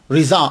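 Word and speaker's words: रज़ा: जद्दे अमजद मौलाना शाह रिजा अली खान ये देखिए रिजा और रजा यह दोनों पढ़े जाते हैं मैं दोनों को प्रोनाउंस करता हूं मजरत जिसके नजदीक जो हो मौलाना शाह रिजा अली खान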